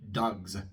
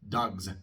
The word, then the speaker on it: dogs: Igual en dogs, dogs. La G es sonora, así que la S también.